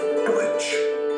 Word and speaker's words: Deutsch: Dutch is simply a mispronunciation of Deutsch, which means German.